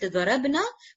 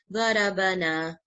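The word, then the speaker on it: ضَرَبَنَا: Okay, so if we pronounce it darabna, completely becomes opposite. The meaning becomes completely opposite. Darabna. Okay, so we will pronounce it very carefully. Darabana. Okay, everywhere this is fatha.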